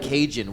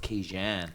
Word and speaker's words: Kajan: Yeah, I actually dropped it because Raging sounds like Cajun, which isn't actually my name. My name is actually pronounced Kajan.